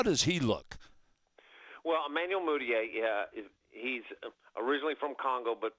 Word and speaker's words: Mudiay: Now, Emmanuel, how do you pronounce his last name? Mudiay.